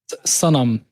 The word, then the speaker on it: Sanam: In Arabic, it's Sanam.